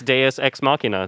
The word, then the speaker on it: deus ex machina: oh yeah that's yeah cause that's how you say it too it's deus ex machina that's the title of